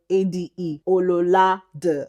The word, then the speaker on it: Ololade: Ololade. But that's not your name is pronounced. It's pronounced Ololade.